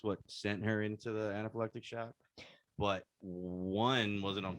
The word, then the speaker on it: anaphylactic: saying like a word i'm saying anaphylectic but i am not conscious that's how you pronounce anaphylaxis okay i was saying but oh actually it might be anaphylactic it's anaphylactic shock so she was in